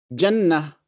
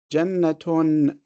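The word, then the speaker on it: جنة: And each one of them ends with a ta marbuta that we pronounce as a ha when we stop. When we continue or we connect, we say ayatun, jannatun, imra'atun.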